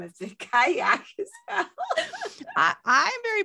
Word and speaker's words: Cailleach: overlapping stories of the kayak where the kyle i she says kayak in that video although when it's written the pronunciation looks like it should be where you pronounce the l's so i'm not sure